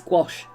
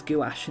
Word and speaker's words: gouache: It's gouache. It's gouache. Not gouache. It's gouache. It's very common to pronounce it as gouache in the UK, though. But it's a French word.